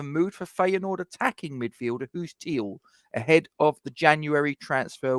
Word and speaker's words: Guus Til: West Ham can finally replace Jesse Lingard with move for Guus Til. Yes, it's. I know it's a G, ladies and gentlemen, but in Holland it's pronounced as a H.